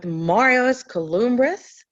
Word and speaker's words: Marios Kouloumbris: I introduced you before you came on, but everybody, we are now live with Marios Kouloumbris. Am I pronouncing Yeah.